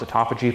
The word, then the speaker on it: autophagy: thing that it does activate is something called autophagy which is spelled autophagy but pronounced autophagy for some reason and um it basically does